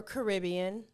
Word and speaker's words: Caribbean: that Johnny Depp was in Pirates of the Caribbean okay or Caribbean yeah I know it's Pirates of the Caribbean but it's the Caribbean islands right yeah okay okay so anyway she's